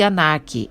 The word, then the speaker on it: Ankh: Ankh pronuncia-se Anak, a vértebra torácica de um touro, visto em corte transversal.